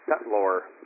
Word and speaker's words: settlor: And just to start off the conversation, I believe that word in law is settlor, S-E-T-T-L-O-R. Can I just spell that again?